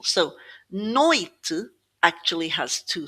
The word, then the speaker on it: noite: When we're faced with just two word two syllables, sorry, it's going to be stressed on the first syllable. So, noite actually has two syllables.